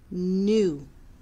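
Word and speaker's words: gnu: of it's called a new it's spelled g-n-u but it's pronounced new news will sit on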